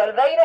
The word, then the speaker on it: Oliveira: ¿Olveira es tu apellido?